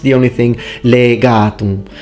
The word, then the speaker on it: legatum: As Luke in his video points out, in this part, excellently pronounced, the only thing, legatum. So we need the e longer. Its phonemic vowel length is very important in Latin.